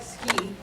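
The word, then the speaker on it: Suki: I like Ski. Ski? It's called S-U-K-I. It's pronounced Ski.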